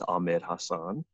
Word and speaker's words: Ahmed Hassan: call it yeah yeah so my name is Ahmed Hassan that's how I pronounce it I'm best known as the original